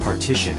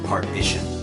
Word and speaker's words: partition: state hey iva it's pronounced partition and not partation i know how it's